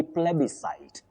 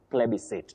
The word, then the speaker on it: plebiscite: Then your next word, you say plebiscite, a plebiscite. And you can also say plebiscite. Two acceptable pronunciations.